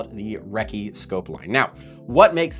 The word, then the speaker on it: REKE: I would also venture a guess that that Wrecky culture influenced the pronunciation of the name of the scope mount re. I had been calling it the Ricky for the longest time, but I did watch